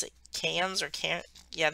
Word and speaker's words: Cairns: but they pronounce it cans or can't yeah they don't pronounce the r so it's like hands why i don't know